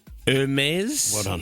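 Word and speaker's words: Hermès: Um she went into Hermes. That's how you pronounce it.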